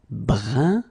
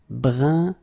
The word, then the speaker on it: brun: Numéro 13, it's this un, so nasal, it goes in your nose, un, fin, okay, fin, un, fin. Then another example, brun, brun, okay, fin, brun, fin.